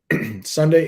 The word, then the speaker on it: sundae: spelled pronounced i meant sunday is pronounced the same way as sunday the day of the week just sunday is a